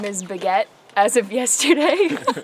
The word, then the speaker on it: Baguette: and my trail name is Baguette as of yesterday. Begat? Spell that.